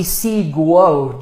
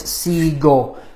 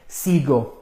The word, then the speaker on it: sigo: But aquí tenemos, if it were a normal verb, it would be sigo, G-U-O. And that's just not how you say it. It's sigo.